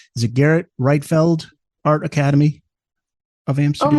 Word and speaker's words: Gerrit Rietveld: this correctly, is it Gerrit Rietveld Art Academy of Amsterdam? Almost. The Dutch G is very difficult. Gerrit Rietveld.